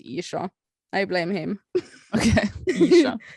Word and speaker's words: Ircha: it's called Isha Gaming, as I say in Norwegian, Isha, You know, that's the original pronunciation. But, you know, Happy Console Gamer made it Isha.